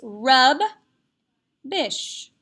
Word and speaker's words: rubbish: is our digraph and i'm going to accent the first syllable which is usually the case when it's a vccv pattern so now i know it's rub bish rubbish rubbish rubbish is another